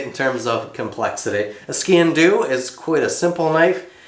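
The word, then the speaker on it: sgian-dubh: Now I have crafted multiple ceremonial knives before, particularly the ski and do, I believe it's pronounced. It's an odd name, SGIANDUBH or something like that.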